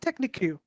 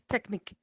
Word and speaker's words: technique: It's not technic. It's technic.